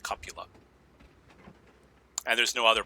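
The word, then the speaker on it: cupola: but it might hit the cuppola which people mispronounce cupula it's pronounced copula and there's no other pronunciation so don't check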